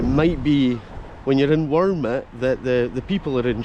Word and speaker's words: Wormit: They were meaning to say wormwood, and folk are like, what are you saying? He's like, ah, wormwood. And he's like, ah, Wormit.